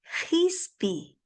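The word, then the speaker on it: qispi: Fispi, así como con J vamos a pronunciar la Q que aparece en la segunda parte donde en quechua, ¿no es cierto? Hispi, algo parecido a eso, pero es hispi. Es más al fondo. Hispi.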